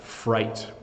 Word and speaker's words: fright: and then we have fright so night and fright rhyme so when you give